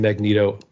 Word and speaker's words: Magneto: I call I know everybody calls him Magneto I call him Magneto because it just makes more sense to me I don't see a long e in that name I'm I'm I know